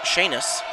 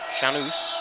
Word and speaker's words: Shanus: And now back to serve is Alyssa Shanis. Shanus, I believe is how it's pronounced now that I look at my notes.